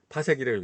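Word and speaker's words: 파섹: 욕 아닙니다. 파색이라고 읽어요.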